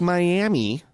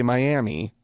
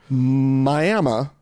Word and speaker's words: Miami: boy yeah there's a town in Oklahoma uhhuh spelled like Miami uhhuh that's pronounced by all locals and I mean you will be corrected if you say Miami it's miam and the locals will call Miami